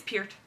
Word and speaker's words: Pier: there's also the Wreckers it's Pier it's Pier it Rhymes Neil Pier Pier I I looked it up I it done the whole thing I've been saying per forever oh well gra gra